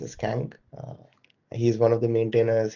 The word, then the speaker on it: Kang: His name is pronounced as Kang.